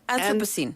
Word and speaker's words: Anthropocene: Anthropocene.